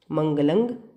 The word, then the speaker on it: मंगलं: सही उच्चारण करना है तो क्या बोलना चाहिए हमें, मंगलंग अजियंग। और ये बात केवल प्राकृत